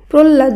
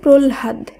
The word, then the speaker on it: প্রহ্লাদ: একইভাবে প্রহ্লাদ নয়, শব্দটি শুদ্ধ উচ্চারণ হবে প্রহ্লাদ। এই সূত্রেই আ হয় লয়াকার দয়সী এর উচ্চারণ হবে আলহাদি।